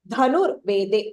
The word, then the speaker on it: धनुर्वेदे: And then again in the next line, dhanur vede. So the dha again is Mahapranah.